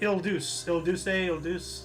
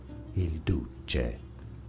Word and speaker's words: Il Duce: Il Duce, something like that.